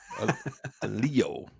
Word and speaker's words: Aleo: Aleo. Pronounced with a long M.